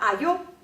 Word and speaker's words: ayo: 我们来听一下 ayo，好，那下面一个 O